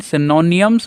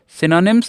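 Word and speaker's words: synonyms: इसे कुछ बच्चे एंटोनियम्स एंड सिनोनियम्स बोलते हैं ना, गलत प्रोनाउंसिएशन है। सिनोनिम्स एंड एंटोनिम्स, एंटोनिम्स नॉट एंटोनियम्स, ठीक है, ध्यान रखेंगे।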